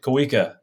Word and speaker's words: Kaa: writer and director of out of Exile Kaa welcome to the show thank you for having me you got my middle name right that's good on you man Kaa some people pronounce it all kinds of weird I had